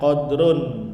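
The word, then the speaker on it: قَدْرٌ: Wa dan likullihim untuk setiap mereka, qadrun dibacanya qadrun, derajat atau kedudukan atau level. Beda kalau qadar, kalau dibacanya da fathah, qadar artinya takdir. Tapi kalau qadrun kemuliaan, kedudukan.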